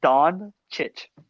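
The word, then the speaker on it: Dončić: It's just Don Chich. Like itch, Doncic.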